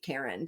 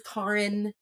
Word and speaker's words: Carrin: I used to say car in the garage, and people would literally put that space in, like car in.